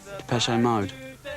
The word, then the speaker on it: Depeche Mode: Depeche Mode. And we just decided we liked the sound of that name. And we chopped off the accent and we just kept the pronunciation.